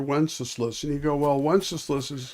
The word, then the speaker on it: Wenceslas: And you go, well, Wenceslas it rhymes with useless, but but Sigismund is the one who is causing enormous amounts of pain.